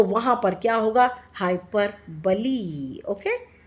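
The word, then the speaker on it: hyperbole: हाइपरबली। Okay, हाइपरबली, BOLE, इसके pronunciation बली ही है।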